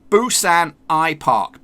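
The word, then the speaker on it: Busan IPark: those lines but no that's not how you say it you say it like this boosts an AI Park boosts anti-pot piece of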